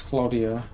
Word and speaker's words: Claudia: talk or Claudia forgot in Italian it's Claudia almost like Cloud wait that went down